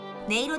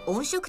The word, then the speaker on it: 音色: 音色ではなく音色と読みます。